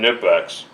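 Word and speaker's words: Knipex: everyone's going to say, you're supposed to pronounce the K in Nipex. Well, maybe you do. I don't. And I do not care if I'm supposed to pronounce the K or not.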